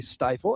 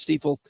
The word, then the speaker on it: Stiefel: You said Stiefel. Some people still say Stifle, and they're wrong. It is Stiefel.